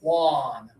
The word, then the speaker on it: Juan: And we say it in the USA without the like they would in Spain or in Mexico. And in Andorra, let's hear it from you, Rashid. How do you say this name? Juan. Yeah, you can hear him say Juan at the beginning. Juan. In the USA, we say it more like Juan.